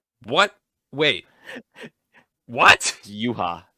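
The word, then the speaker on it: Yhwach: it's like you ha ba is how it's pronounced what wait what yuha yuha is how you pronounce it oh and then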